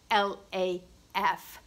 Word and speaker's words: laugh: after centuries of simplification it is pronounced like LAF laughs so we've got